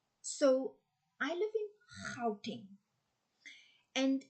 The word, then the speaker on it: Gauteng: It's like it's a weird sound, and you have to be Afrikaans to actually, and even a bit of German and Dutch in Belgium, they are able to pronounce that sound.